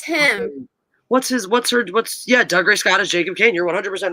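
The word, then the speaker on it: Dougray Scott: Yeah, Doug, like the name Doug and Ray and then Scott.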